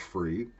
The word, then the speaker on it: FRE: that's the brand name fre may be pronounced free and these are tobacco-free